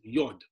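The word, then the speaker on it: יוד: in Hebrew you pronounce the letter Y as yad and you pronounce the letter H as hey and then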